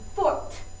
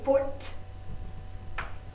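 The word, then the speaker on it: forte: but the word you need to use is Fort remember say Fort it gets an e added listen very carefully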